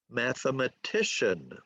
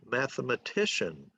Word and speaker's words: mathematician: A 5-4 word is mathematician, mathematician, or melodramatic, melodramatic, okay?